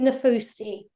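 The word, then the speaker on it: Nafousi: I was told about the 7 Ways to Manifest book by Roxy Nafasia. I don't know how you pronounce the name. Roxy Nafusi.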